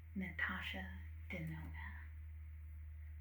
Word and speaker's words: Natasha Denona: Now, the next brand that we have on our list is Natasha Denona. And I can spell that if you'd like.